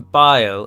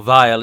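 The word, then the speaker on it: Bhaile: believe they come from bile or vile as it should be pronounced b-h-a-i-l-e which is usually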